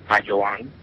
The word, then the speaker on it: Bayoan: know everybody calls me because they can't pronounce bang and um my name is bang this and since I was a a a